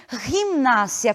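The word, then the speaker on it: gimnasia: Portanto, essa palavra aqui, que aparece na tela, nós não pronunciamos gimnásia, e sim gimnásia, com o G, a pronúncia gutural.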